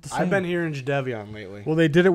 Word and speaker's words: Jadeveon: Is it Jadeveon or is it Jadeveon? Jadeveon. It's spelled Jadeveon.